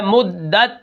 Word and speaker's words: مدت: کلمہ ہے وہ ہے مدت۔ اب اس کو ہم کس طرح پڑھیں گے، اس کے ہجے کس طرح ہوں گے، میم دال پیش مدال، تا زبردت، مدت وقفاً مدت۔ اب یہاں پر دیکھیں